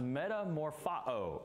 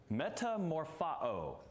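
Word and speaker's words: μεταμορφόω: let me go back it's pronounced Metamorpho in the Greek Metamorpho now obviously what English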